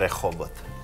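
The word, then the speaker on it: Rehovot: It's called Rehoboth. Okay, there you go. That's how you say it.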